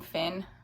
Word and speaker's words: Fionn: It's spelled Fionn. I've just been saying Finn.